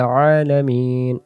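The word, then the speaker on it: العالمين: আলহামদুলিল্লাহি রাব্বিল আলামিন আলামিন, গলা চাপ লাগবে। আর যদি আমরা পড়ি আলামিন তাহলে হামজা আসবে, তাহলে এক অক্ষরের জায়গায় আরেক অক্ষর উচ্চারণ করা যাবে না।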